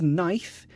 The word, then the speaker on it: knife: um Sal Dave says why is knife spelled with a K great question I think this comes from Swedish English as a language